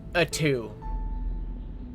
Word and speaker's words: Uttu: I hate that it is spelled uttu and it's pronounced a two.